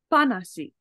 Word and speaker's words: っぱなし: So this hanasu is actually also a grammar point where it's glottal stop panashi. Yeah, so it's pronounced as a P, but it's that same,